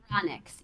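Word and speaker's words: Eranyx: Ironix. E-R-A-N-Y-X. Ironix.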